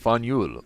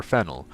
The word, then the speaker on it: Faneuil: Don't let the French spelling confuse you. The name of this building is pronounced Fanul, or Fanul.